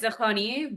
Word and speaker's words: Dehghani: It's pronounced Dehghani, but everyone just says Dehghani.